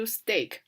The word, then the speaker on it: steak: 到的是 steak，它不读 steak，是读 steak，就是牛排 beef steak，不要读成 beef steak，就是它和 stake 那个单词也是读 steak，两个单词读音是一样的，但是要